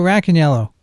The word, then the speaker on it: Racaniello: it's uh cold so black and yellow remember that everyone that's how you pronounce my name black and yellow rack and yellow i'm named after a